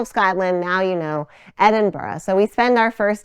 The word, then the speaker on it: Edinburgh: edin burrow so whatever you do don't say either of those at inbra or once you get there you get comfortable and you hear the Scottish people saying it there really is a half syllable at the end it's sort of like the G is a vowel Edinburough right so you